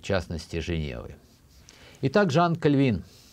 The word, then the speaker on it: Кальвин: частности Женевы Итак Жан кальвин обычно мы говорим кальвин Хотя конечно более правильно говорить кальвин он Француз и поэтому ударение должно быть на последнем слоге но наших культурных сообществах